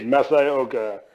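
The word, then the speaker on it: Masi Oka: Masaoka, right? Isn't that how you say his name? Indeed, Masaoka.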